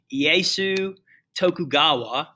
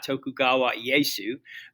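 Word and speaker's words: Tokugawa Ieyasu: quickly this guy named iesu tokugawa or if you say it right tokugawa yeysu because in japan the last name comes first um is going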